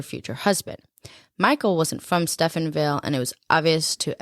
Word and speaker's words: Stephenville: bad boy type so she grew up and Stephenville is that how you say it yeah Stephenville she grew up yeah she grew up there